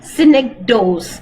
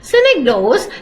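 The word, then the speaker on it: synecdoche: when you're doing syic do synic do please pronounce with me synic do synic do is actually used to represent the part and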